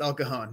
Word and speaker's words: El Cajon: Yes, El Cajon.